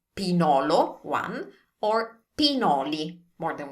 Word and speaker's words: pinolo: So remember, this is not pignolo, it's pinolo, one, or pinoli, more than one, pine nuts.